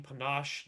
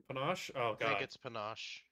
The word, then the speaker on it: panache: train your intimidation gain Panache during an encounter whenever I successfully demoralize it is that how we say it is panache it might be a tomato tomato situation I'm pretty sure it's Panache but I